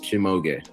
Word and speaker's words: Chimog: It is three syllables. Chimog.